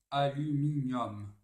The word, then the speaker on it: aluminium: Fort, ordre, aluminium. Alors, les mots latins qui se terminent en UM se prononcent avec un O ouvert, comme O.